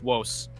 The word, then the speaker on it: vos: It's not vos, it's wos. It's salve quam vos, because you don't pronounce V. Like V in Latin is pronounced as like a W.